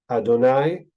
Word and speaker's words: Adonai: in name interestingly enough Elohim as opposed to Adonai that's how it's pronounced we don't read it that way we